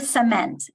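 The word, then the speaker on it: Cziment: Is it Zetmet? open your mic and tell me how to pronounce your name, please. It's Cement, just like the ground, cement.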